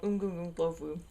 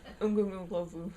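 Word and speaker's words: uMgungundlovu: It was called Ungungunglovu. It took me several months to learn how to pronounce that. Ungungunglovu. And there's not even any clicks in it, so it's not even that hard to say.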